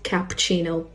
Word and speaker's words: cappuccino: This word is pronounced spaghetti and not spaghetti. This is not cappuccino, but it's cappuccino.